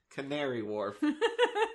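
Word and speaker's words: Canary Wharf: again no okay tary I I just saw the word and pronounced it as I saw it it's Canary Warf sorry but yeah because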